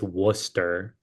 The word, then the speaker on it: Worcester: You know, is what this is not like actually this is how you say it. So I just learned because we just played there. It's Worcester. That's how you Worcester.